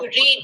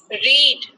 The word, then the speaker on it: read: Spelling same रहेगा, READ, लेकिन हम उसको अलग से प्रोनाउंस करेंगे. रीड, रेड, रेड.